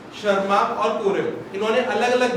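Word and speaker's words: Tschermak: पहला नाम था Hugo de Vries, शर्मा T silent है, कोरेन।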